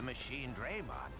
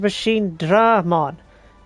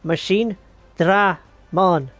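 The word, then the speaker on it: Machinedramon: There's only one E in the name, but you're pronouncing it as if it has two. It is Machine Dramon.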